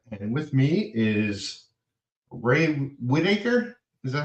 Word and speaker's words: Whitarce: And with me is Ray Whitaker. Is that how you pronounce Whitaker. it? Yeah, Whitaker, Yeah.